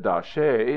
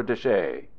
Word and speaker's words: De Chelly: Most people now pronounce it Da Chelly or De Chelly.